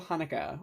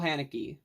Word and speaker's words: Haneke: The White Ribbon by Michael Haneke, or Michael Haneke, however you want to pronounce his name. I've heard it both ways.